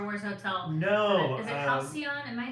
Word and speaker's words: Halcyon: Is it Halcyon? Am I saying it right? The Halcyon, yeah.